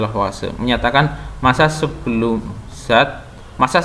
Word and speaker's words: Lavoisier: Hukum kekeliruan massa atau hukum Lavoisier, tulisannya Lavoisier, bacanya Lavoisier, menyatakan massa sebelum zat massa sebelum dan sesudah reaksi adalah sama.